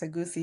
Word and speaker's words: egusi: noticing, and I don't even know how to pronounce it, egusi? Yes, Is that you right? said it right. It's a goosey, yeah.